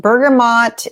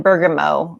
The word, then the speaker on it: bergamot: go to is Bergamo I've heard this pronounced bergamot and Bergamo you can choose how you want to pronounce it I say Bergamo you